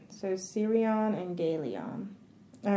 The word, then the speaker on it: Gelion: Is it Gelion or Gelion? It's Galeon. It's Galeon? Yeah. Okay. All right. So Sirion and Galeon.